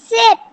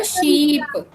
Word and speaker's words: sheep: Sip. Sip नहीं बेटा, sheep. शिप तो अलग चीज होती है ना, जो पानी में चलती है, तो उसको शीप बोलते हैं. हाँ जी, आपकी प्रोनाउंसिएशन रॉन्ग हो रही थी.